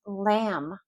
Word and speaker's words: lamb: So if you're ordering lamb, that B is always silent.